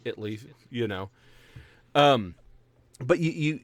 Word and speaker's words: Italy: one where there's Italy Texas and it is pronounced Italy not Italy even though it's how it's spelled it's Italy you know um but you you certainly like